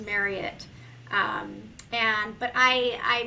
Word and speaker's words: Marriott: fun fact for everybody it's pronounced Marriott like Chariot for the entire world says Marriott so if you take nothing else away from you today uh it is pronounced Marriott um and but I